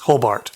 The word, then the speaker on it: Hobart: it's an independent botler based in hobbert or Hobart I don't know how they would pronounce that yes Hobart Hobart and then finally old